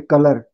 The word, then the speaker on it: colour: आप ऑनलाइन शब्दकोश निकालो, उसमें एक माइक है, स्पेलिंग लिखो, COLOUR, तुम उच्चारण करोगे कलर, वह माइक दबा दो, वह कहता है कलर, कलर, कलर। र का उच्चारण नहीं करना चाहिए।